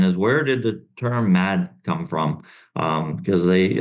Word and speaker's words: MAHD: for Hardware development so it just naturally came out as mad um sometimes folks do want to pronounce it differently but but that's how we pronounce it and we appreciate that